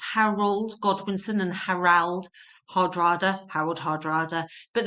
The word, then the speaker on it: Harald Hardrada: Harold Hardrada, but they're pronounced the same.